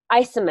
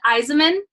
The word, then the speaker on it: Isaman: your last name wrong I'm its Iseman but that was Raymond if I say it fast hi what is it it's Eisenmann Eisenman okay perfect well we